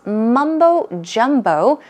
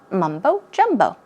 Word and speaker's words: mumbo-jumbo: fact it's nonsense so yes mumbo-jumbo stress these syllables mumbo-jumbo it means meaningless nonsense